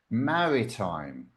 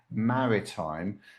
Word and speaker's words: maritime: Maritime, with the stress on the first syllable, okay? Maritime, relating to the sea, ships, or navigation.